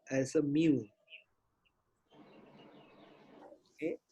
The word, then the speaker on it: mu: And if we talk about the average, okay, the population we use what we call as a mu. Okay, mu is pronounced as M-I-U.